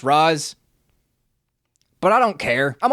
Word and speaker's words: Ra's: I know it's pronounced Raz, but I don't care.